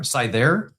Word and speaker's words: Scyther: He says it is pronounced uh Syther Scyther. He even gives me like the proper pronunciation and I still sther scyther.